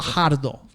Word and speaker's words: Guajardo: Guajardo. I pronounced that correctly, right?